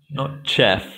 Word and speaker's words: chef: five help me and chef chef chef or chef no chef oh it's exam like like shoe chef okay ballerina doctor hath